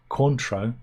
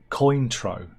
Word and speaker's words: Cointreau: right the first time Cointreau is pronounced Cointreau not Cointreau does anybody ever call